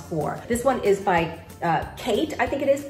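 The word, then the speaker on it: Khaite: this one is by Kate I think it is k-h-a-i-t-e I think it's pronounced Kate whether in a hobo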